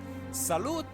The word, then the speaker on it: salut: Also, T in salute. Oh, it's silent. Okay, okay. Damn, French and silent letters.